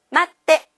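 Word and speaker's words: 待って: 쓰로 끝났어요 자 그럼 1그룹 동사에서는 발음을 편리하게 하기 위해서 여러분들 어떤 규칙이 있었죠 우두루 으데 기억나시죠 마츠에 테를 붙이니까 마떼 이렇게 돼요 기다려 주세요 마떼 그다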